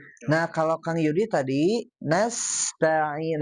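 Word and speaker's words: نستعين: Nah, kalau Kang Yudi tadi nasta'in. Nah, sofirnya kurang. Nas. Nah, ada suara tambahan seperti suaranya desisan ular.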